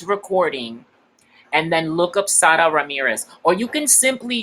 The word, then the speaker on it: Sara: Yeah, which, by the way, she likes to pronounce her name Sara. So Sara. So it's like in English you would say SDA, I guess, like Sara.